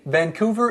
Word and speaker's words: Vancouver: See, Vancouver is in Canada.